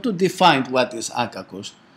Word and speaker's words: akakos: He's so how to say, so, I mean, not angry, this, you know, this is akakos.